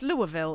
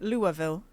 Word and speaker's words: Louisville: Apparently they pronounce the Louis French style, which is fucked up. It's Louisville, isn't it? Louisville.